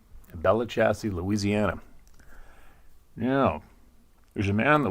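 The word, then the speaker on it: Belle Chasse: a town there called Bella chassis I'm pretty sure that's how it's pronounced b-e-l-l-e-c-h-a-s-s-e Bella chassis Louisiana there's a man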